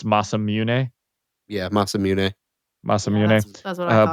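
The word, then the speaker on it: Masamune: however you pronounce it I used to say Mass immune uh growing up cuz that's how people who pronounced it when they played the original Final Fantasy and talked about it they used to say mazmun but uh I guess it's masam mun yeah masam mun masam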